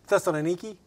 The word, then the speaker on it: Thessaloniki: Do you say it? Thessaloniki. I like that better. Thessaloniki. I'm not sure how they say it over there now. Yeah. It may have been, you know, modernized to be Thessalonica. Because that's what everybody from the West calls it.